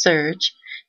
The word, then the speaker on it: SRJ: SRJ, pronounced SURGE, is an open-access, peer-reviewed, and student-governed publication.